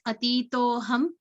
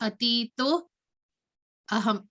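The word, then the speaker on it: अतीतोऽहम्: So it may appear as atito ham, but it is actually atito aham.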